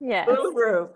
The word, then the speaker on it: Uluru: Is that what it that's how you pronounce it? Uluru.